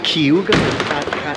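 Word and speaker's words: Cayuga: it it's been too long how do you pronounce it kuga kuga kuga kuga Lake it's it's all from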